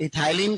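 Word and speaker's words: ethylene: Hormone की बात करें तो इथाइलिन, ई साइलेंट रहेगा इसमें, इथाइलिन।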